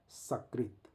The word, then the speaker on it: सकृत: अब सकृत करना है तो दांत से टच करके जीभ को बोलना है सकृत, और तालू से श को टच करके बोलना है शकृत।